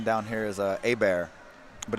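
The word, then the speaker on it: Hebert: one a common name down here is a a bear but it's pronounced it's spelled h-e-b-e-r-t so it's herbert and we heard y'all over on the announce i think calling out has the name herbert they're like they're not gonna know who y'all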